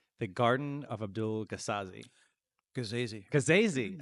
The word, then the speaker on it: Gasazi: Gasazi. I've been saying it wrong all this time. Rhymes with crazy.